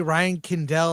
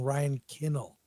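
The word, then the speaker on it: Ryan Condal: know I think that when you say Ryan kandell I think you're mispronouncing Ryan kinnel yeah that uh no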